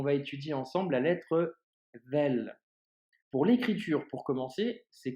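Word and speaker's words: ذال: En revanche, quand tu prononceras la lettre vel, eh bien, ta langue doit sortir légèrement et tu dois la faire toucher tes dents, tu vois.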